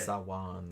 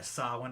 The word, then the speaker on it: Samhain: Sawan, or however they Samhain. pronounce it. Yeah, Samhain, I think.